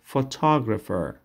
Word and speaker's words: photographer: photographer photographer photographer یادش داشته باشین یه فوتوگرافر نگوین photographer عکاس pilot pilot pilot